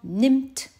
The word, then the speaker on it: nimmt: Écoute bien le présent, nimmt. Il n'est pas long du tout ce I. Ça veut dire qu'il n'y a pas de H et qu'au contraire, il y a deux M.